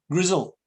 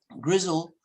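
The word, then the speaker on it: Grizel: look and see that's a girl that name Grizzle do you know that name Grizzle it's a quite a good night it's spelled all sorts of ways sometimes with the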